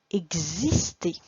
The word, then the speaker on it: exister: dans son taxi, elle se prononce gz quand elle est toute seule. Gz, gz. Comme dans, je te laisse lire. Un exemple. Un exercice. Exister.